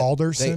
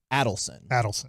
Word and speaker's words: Adelson: That Alderson? They are. Is that I'm saying it right? The family that bought it, Adelson.